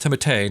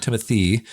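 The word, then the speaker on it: Timothée: Oscar as's wife and timate Shel apparently it's pronounced timate not Timothy I don't want a n pick but that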